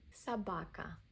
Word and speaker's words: собака: Собака. O is unstressed, pronounced as a A.